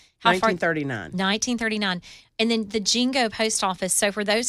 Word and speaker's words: Jingo: And then the Jingo Post Office. So for those that don't know, Yep. Fairview used to be called Jingo. Jingo. And so, Not B-I, J-I.